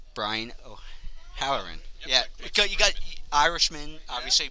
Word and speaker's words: O'Halloran: theater work as well uh make sure I pronounce this right Brian o howerin yeah you got Irishman obviously being a first